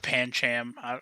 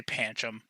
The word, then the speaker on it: Pancham: it it's panchum yup pancham however people want to pronounce it i say panchum so that's my number